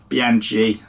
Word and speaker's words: Bianchi: well is right bianchi bianchi is pronounced bianchi apparently ch is a a hardcore like a kick in the bollocks which is what i'm